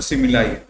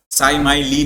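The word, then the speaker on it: simile: उस figure of speech को हम लोग सिमिली बोलते हैं। ठीक है? और इसको स माय ली मत पढ़ लेना। ठीक है? या कुछ भी मत पढ़ना। सिमिली ही बोलते हैं।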